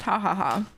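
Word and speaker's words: jajaja: It's pronounced ha ha ha. Because the J is...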